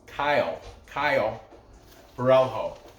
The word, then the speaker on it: Caio Borralho: If you're Italian, his first name Caio. It's spelled, if you were to pronounce it Italy, it'd be Ciao Borralho. I like that. But Brazilian, I guess we're pronounce it how it's phonetically spelled. Caio Borralho.